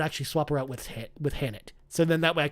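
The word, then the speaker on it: H'aanit: Oh no, Hannett. Hannett. Oh, sorry. I was thinking Annette. I'm like, no. What? I don't even. Sorry, I didn't pronounce the H enough.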